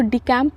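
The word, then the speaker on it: decamp: इसको डिकैम्प पढ़ेंगे, डिबैकल नहीं पढ़ेंगे, ठीक है।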